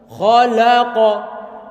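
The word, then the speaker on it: خَلَقَ: Kalau lam kan fathah la. Kalau kita nggak berhati-hati nanti membacanya adalah la. Khalaqa, khalaqa. Jelas ini terdengar bacaannya. Kalau nggak hati-hati akan kita baca khalaqa. Padahal lam itu tipis.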